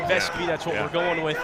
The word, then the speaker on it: Vescovi: Vescovi. Vescovi. We'll have more on that with Casey Funderburg, but yeah, pronunciation Vescovi, that's what we're going with here.